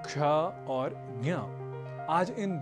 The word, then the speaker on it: क्ष: जी हाँ, उच्चारण की दृष्टि से विशेष पहला संयुक्ताक्षर है क्ष, जो बना है क और श के योग से। क और श मिलकर बनते हैं क्ष।